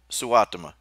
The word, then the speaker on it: Suotama: We got the mountain mama, Suotama.